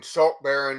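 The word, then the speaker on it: Saltbarren: r z and then salt baron is his last name is spelt the second songs like b-a-r-r-e-n like the title baron not as in the not as the like not as the baron wastelands he says i have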